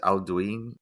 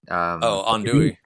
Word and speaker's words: andouille: Aldouin? Andouille.